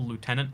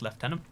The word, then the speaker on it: lieutenant: differences in canadian english a for example lieutenant is pronounced lieutenant uh lieutenant is pronounced lieutenant and british like english i that's one of my biggest bothers like how does that become lieutenant like it's gotta be some weird latin garbage that i just don't